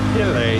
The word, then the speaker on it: Philae: So as I said before, we're heading to the Philae, it's spelled P-H-I-L-A-E, temple.